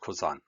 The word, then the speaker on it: Cousin: drives me crazy because it's spelled like cousin but it's pronounced kozan no clue why the